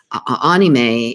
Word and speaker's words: anime: to me i was always calling it anime anime is pronounced a-h-k-n-e-e-m-a-y it's an abbreviation for the word